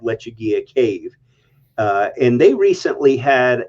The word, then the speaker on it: Lechuguilla: Pardon me if I'm pronouncing this wrong. Lechuguilla. You're correct. Yep. Yeah, Lechuguilla in Carlsbad Caverns National Park, which is a national treasure, well known.